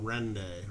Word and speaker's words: Rende: That's how you pronounce it. I've gotten the official word from Rende right there.